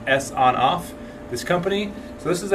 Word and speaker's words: Sonoff: of these smart thermostats from sawn-off or actually I think it's pronounced s on off this company so this